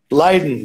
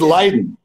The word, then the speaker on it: Leiden: How do you pronounce it? Leiden? Leiden, that's correct. It is Leiden.